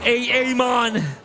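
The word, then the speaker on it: Aamon: Oh, Amon. Mon to the table once again. I'm sorry, guys. I need to call him Amon. Amon because of the double A.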